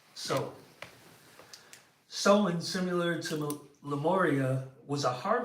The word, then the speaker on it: Samhain: I've heard them say several different pronunciations of it, but it's actually spelled as if it's pronounced Samhain, Samhain, but it's pronounced Samhain.